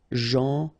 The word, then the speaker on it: gentil: So it's a strange one because here this final L is not pronounced. Okay? Gentil.